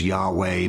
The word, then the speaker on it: Yahweh: of the divine name, which we think is pronounced Yahweh, but nobody knows because there were no vowel markers.